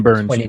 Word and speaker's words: Burnes: Yeah, and just to clarify, Corbin, all right, it's not Burns. I think it's Burness. He has an ERA of 2.29. Corbin Burns.